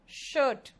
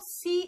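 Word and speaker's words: shoe: जूते जो होते हैं वो शूज होते हैं, एक जूता को क्या कहेंगे? इट्स शू। सू नहीं होता ये, इट्स शू।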